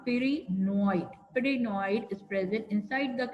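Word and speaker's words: pyrenoid: which is present paranoid how do we pronounce it per p y r e peroid peroid is present inside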